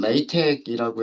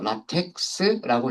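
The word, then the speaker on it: LaTeX: 어 얘가 그 원래는 그 어디에서 나온 문법이냐면 레이텍이라고 해서 라텍스라고 읽기도 하고음 라텍스라고 읽기도 하고요. 저는 레이텍이라고 어 이렇게 하는데 그이 수학 공식들을 수학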